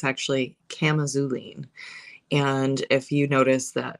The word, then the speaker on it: chamazulene: is a chemical constituent which apparently I've been pronouncing misc correctly or incorrectly um my whole entire life so it looks like chamazulene because it's got a CH but it's actually culine and if you notice that in the auline